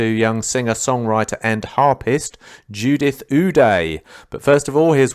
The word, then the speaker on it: Ude: Judith yeah Judith yes Judith Uday yeah that's great oh okay you die because it's pronounced u-d-e isn't it that's kind of